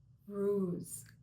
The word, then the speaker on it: Uruz: Today we are going to talk about the next rune, which is pronounced Uruz.